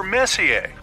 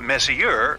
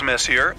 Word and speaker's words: Messier: the m stands for Messier pronounce Messi not Messier as in is your room messier than mine Charles Messier I mean Messier to